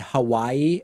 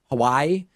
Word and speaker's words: Hawaii: I made an effort to say Nevada and Hawaii as opposed to Nevada and Hawaii and that's it i